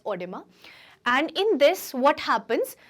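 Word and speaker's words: oedema: they say doctors okay it is pronounced as odima and in this what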